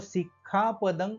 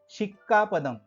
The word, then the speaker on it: सिक्खापदं: हे उच्चारण करत असताना अनेक लोक सिक्खा पदंग असं म्हणायच्या ऐवजी शी लावतात शिक्का पदंग शी आणि क ला क शिक्का पदंग समाधिया म्हणून लक्षात ठेवण्याची गोष्ट